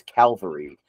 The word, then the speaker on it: Calvary: Cavalry. I read it like cavalry, like a cavalry of herd, but it's spelled Calvary. So I think it's Calvary.